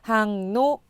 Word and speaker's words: 항로: 항로, 항로 이렇게 되어 있는데 편하게 발음하면 일반적으로 이응과 리을이 만나서 항노 이렇게 발음이 되죠.